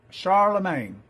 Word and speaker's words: Charlemagne: Yeah, Charlemagne.